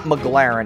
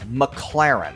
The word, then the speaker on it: McLaren: times in a row it's not McLaren it's McLaren okay so that's how